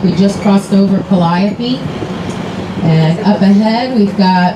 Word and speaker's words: Calliope: Now, Calliope, that is a musical instrument on a riverboat. We'll call that a calliope all day long. The street, however, is called Calliope.